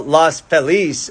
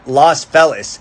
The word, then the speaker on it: Los Feliz: DJ Waldy, said that the common Anglo pronunciation, Los Feliz, stems from the Midwestern takeover of LA in the late 19th century, which confounded residents as to whether to use a Spanish or English pronunciation, so it just stuck somewhere in the middle. Now, many native Spanish speakers point to Feliz Navidad, and they say it should be Los Feliz.